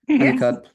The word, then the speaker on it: Hunnicutt: Am I pronouncing it right? That's right. Hunnicutt.